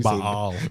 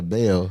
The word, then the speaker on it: Baal: Yeah, you know, Baal. We say Baal. No, he said Baal. He breaks it up into two syllables. Which that's it should be. I'm about to say probably how it should be said.